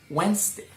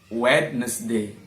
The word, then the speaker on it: Wednesday: Bede Channel silent letter Sonia go silent letter D Wednesday Wednesday Wednesday not wetness Lee wetness day you have to say Wednesday Wednesday I always go